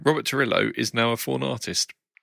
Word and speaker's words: Trujillo: Robert Torillo. Yeah, you would pronounce the J as a Y like they do in Scandinavia and stuff, and like South America.